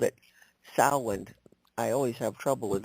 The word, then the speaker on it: Samhain: Celts who called it Samhain. I always have trouble with that name, but that's how it's pronounced. It looks like it should be something different.